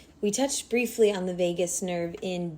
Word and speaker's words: vagus: of this week is vagus nerve so spelt a wee bit differently than las vegas but pronounced exactly the same this is essentially the